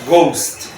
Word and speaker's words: ghost: ocurre poner otra palabra Ghost O sea que ahora la gh se pronuncia como Go entonces por fin Cómo